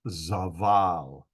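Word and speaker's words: זבל: word of this and it is z or z b a b sound and lamad an l sound so the root word is zaval zaval and it does mean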